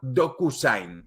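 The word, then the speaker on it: DocuSign: otra que se llama docusain es decir doku como documento y Sign que se escribe s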